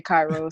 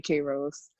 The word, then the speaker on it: Kairos: Some people say Kairos, some people say Kairos.